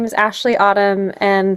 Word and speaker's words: Aisley: So, my name is Ashley Autumn, and the word Ashley is spelled like a i l e y, but pronounced a like as if it was spelled a s h l e y.